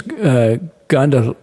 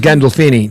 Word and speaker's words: Gandolfini: James Gandal. How do you pronounce it? Oh, James Gandolfini.